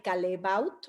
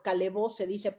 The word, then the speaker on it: Callebaut: de la marca de calebaut así bueno calebó pero se escribe callebaut y Y entonces ellos